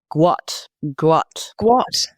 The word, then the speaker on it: Gout Gout: And that is pronounced completely differently to gout.